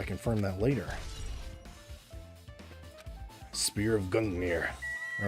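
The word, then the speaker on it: Gungnir: an artery right there spelled Gung near yeah like that sounds pronounced right it's pronounced Gung near it's like that's like a a Norse thing right I think anyway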